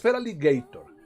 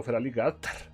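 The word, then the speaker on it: Feraligatr: Es Feraligator, el problema es que el nombre quedó Feraligater porque originalmente no, que estoy buscando play.pokemon Showdown Team Build, aquí está.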